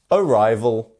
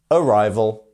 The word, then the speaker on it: arrival: Arrival. Make sure you get that V in the middle. Oh, my hair. Arrival.